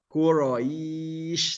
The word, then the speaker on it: Quraish: Jadi menyebarnya memang menyebar ke seluruh rongga mulut huruf sya itu. Jadi jangan malu-malu pengucapan liila fi Quraish. Nah, seperti itu. Li'ila fi Quraish. Quraish.